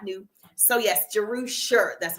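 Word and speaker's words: Jerusha: this is so important so I'm juser that's how you pronounce my name jerusa it's Hebrew it's in the Bible it's actually a derivative of Jerusalem and it is Luke's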